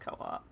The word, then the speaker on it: co-op: how we're just like, we have to make sure it's pronounced co-op.